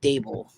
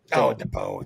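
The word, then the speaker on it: Daboll: It's Dave's and it's Dable, not. DeBow, Dable.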